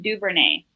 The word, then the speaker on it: Duvernay: All right, guys, the Baltimore Ravens go with the wide receiver from Texas, Devin Duvernay. Did I say it right? Duvernay? Yeah, you did.